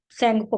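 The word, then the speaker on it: Tsangpo: तिब्बत में तिब्बती भाषा में इसको सैंगपो कहते हैं, टी साइलेंट है, सैंगपो।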